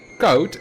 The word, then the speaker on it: Koot: Now, Koot is spelled K-O-O-T. Koet is spelled K-O-E-T. But an English person, or English speaking person, would pronounce those the other way around. Because K-O-O-T, which is Koot here, becomes Koet in English. And K-O-E-T, which is Koet here, becomes Koot in English.